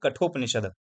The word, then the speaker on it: कठोपनिषद: Basically इसको pronounce क्या करेंगे, कठोपनिषद।